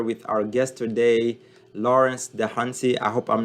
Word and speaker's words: Dahunsi: momodullo i'm here with our guest today lawrence the hunty i hope i'm not butchering your last name